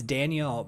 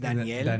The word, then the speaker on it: Daniel: Mark Sands, it's Daniel, because in Spanish it's pronounced Daniel. Daniel.